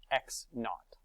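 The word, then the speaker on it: x₀: um initial position down here that zero we pronounce that as not x naught likewise delta t is our final time minus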